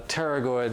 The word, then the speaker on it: pterygoid: So as requested, we are now going to pull out the gloves and do some inner mouth work on the pterygoid muscles, spelled like pterodactyl.